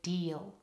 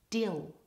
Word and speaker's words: deal: in the next section check that you're not using a short vowel in the word deal try these words with me now dill that's a short eat dill and now the long vowel e deal deal try them